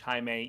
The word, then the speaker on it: Jaime: Jaime, it's spelled like Jamie, but it's Spanish. Jaime.